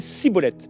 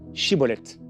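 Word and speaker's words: Schibboleth: en ce temps-là pardon 42000 hommes d'Ephraim moururent parce qu'il ne réussissaient pas à prononcer correctement ce mot chibolette et il disait siibolette alors c'est une histoire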